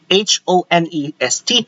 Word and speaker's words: honest: Honest is spelled like this: letter H, and then O, and then N, and then E, and then S, and then T. Honest. We don't say that ha, ha.